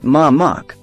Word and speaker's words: Mamak: In Southeast Asia, the term Mamek means food stall or street vendor and is pronounced Mamak.